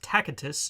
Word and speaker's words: Tacitus: Now, the historian in question is someone called Tacitus, pronounced Tacitus in Latin.